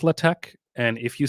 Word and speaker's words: LaTeX: others love using latch I know it says latex but it's pronounced latch and if you say latex to someone using